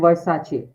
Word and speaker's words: Versace: So yes, the correct pronunciation is Gucci and Versace.